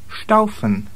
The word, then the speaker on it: Staufen: In combination with T or P or CH, you get the SH sound. Staufen.